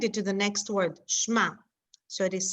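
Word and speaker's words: שמע: called blended or not if you can blend it then it is silent which means in here i can blend this so it's silent like in the word shma i can blend it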